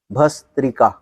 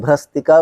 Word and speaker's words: भस्त्रिका: ये जो नाम है ना भस्त्रिका, हम लोग भ्रस्त्रिका बोल देते हैं। भ अथ स ह्रस्वईकार त्र क आकार, भस्त्रिका।